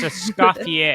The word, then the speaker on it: Escoffier: is silent. It's Escoffier.